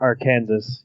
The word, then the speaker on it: Arkansas: He's from Arkansas, but the French pronounce it Arkansas.